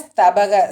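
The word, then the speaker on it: स्तबक: இதில் அந்த மந்தார ஸ்தபக, ஸ்தபகில் ப சொல்லணும். ப தான் சொல்லணும். பவை அழுத்தி சொல்லணும்னு இல்லை, ப சொன்னால் போதும்.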